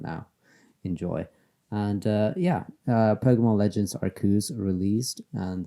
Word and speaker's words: Arceus: Uh, so yeah, today we are talking about Pokemon Legends Arceus. And yes, I do believe that is the correct way to pronounce it. It's pretty clear. Ark as in, Noah's Ark, Ark of the Covenant, religious, godly stuff from the Bible.